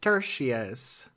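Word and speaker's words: peroneus tertius: We're moving on to another muscle on our list – the , also known as the .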